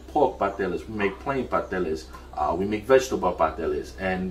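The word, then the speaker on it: pasteles: really enjoy making around the holiday season are patellas okay some people pronounce it pastels but it's a very labor labor-intensive process but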